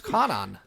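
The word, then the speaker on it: Kwannon: Adam wrote a really good thing about how you pronounce Kanan. Yeah. Skip that W, folks.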